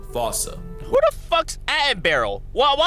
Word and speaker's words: fossa: Anyone who had a childhood like mine would pronounce it the same way I've been doing. But if you follow the Attenborough rule, Sir David would have had you saying Fossa.